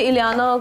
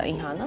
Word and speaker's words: Ihana: So, everyone says Iliana, someone says Rihanna. So, वैसे मेरा नाम इहाना है जी, but I think all whole credit goes to my dad.